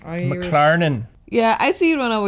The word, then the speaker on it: McLaren: Oh boy, gotta say it like you're Irish. McLaren.